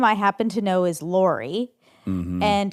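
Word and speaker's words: Laray: Her name I happen to know is Lorie. Mhm. And it's spelled l a r a y, which is different for sure.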